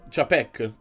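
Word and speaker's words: Czapek: Io lo pronuncio Chapek. Come li pronunciano loro stessi. Chapek, dicono loro.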